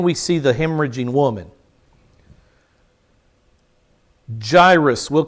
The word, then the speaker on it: Jairus: came a man named jairus yadus is his name there is no j in the hebrew yaidus would have been the